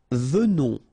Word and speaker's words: venons: Nous venons, okay? So final S not pronounced, and then remember that you pronounce this like a the, venons, okay? O-N in your nose, on, venons, nous venons, all right?